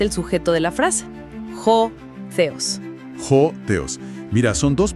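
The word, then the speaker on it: ὁ θεός: Y aquí pronunciamos claramente el sujeto de la frase, ho theos.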